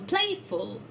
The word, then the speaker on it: playful: So it's play will become playful. Play with one vowel there. If the stress is on the first one single syllable, but when we add the ful suffix, still it is playful.